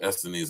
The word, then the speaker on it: Essenes: Listen, the Sadducees, the Pharisees, and the Essenes, or Essenes, as I like to pronounce it.